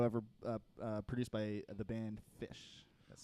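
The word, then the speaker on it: Phish: That would be Down with Disease, the only music video ever produced by the band Fish. That's spelled with I thought you were PH.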